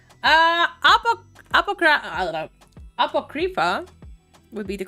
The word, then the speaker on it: Apocrypha: correct is that how it's supposed to be pronounced uh UPA apoc Apocrypha would be the correct let you say apoca